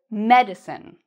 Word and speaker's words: medicine: or more loudness so I've underlined the part we say with stress in the first part we say medicine the second one is